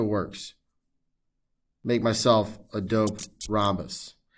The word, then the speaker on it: rhombus: one diagonal of a rahamus if you forgot how to pronounce it was rahamus i'm just kidding it's rhombus the h is silent okay don't say rehabbus uh you know people